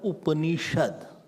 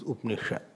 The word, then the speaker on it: Upanishad: So, now it is called Upanishad.